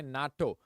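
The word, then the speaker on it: NATO: Atlantic Treaty Organization okay natto am I pronouncing it as n t o AIDS or am I pronouncing it as Nat or Aids see this is pronounced in a single go Nat AIDS all right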